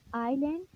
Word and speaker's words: island: ISLAND, आइलैंड, जजीरा। एस को हम sound S की फोनिक्स नहीं लेते, एस साइलेंट होता है।